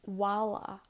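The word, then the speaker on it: mhála: Word bag, mala, and then with a H, it's wala, wala. And then when it's followed by a slender vowel, like I or E, it's pronounced like a V.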